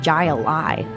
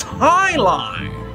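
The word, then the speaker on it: jai alai: against the bellows bloodhounds what the heck is jai a lie it's pronounced highline what the heck is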